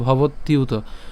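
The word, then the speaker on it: ভবত্যুত: ভবত ইউত ঠিক আছে ভবত ইউত তাহলে একসাথে উচ্চারণ করলে ভবতিউত আমরা একসাথে উচ্চারণ করব ভেঙে এত ভেঙে উচ্চারণ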